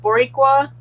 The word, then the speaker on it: Boricua: So it's Boricua, but he said it better.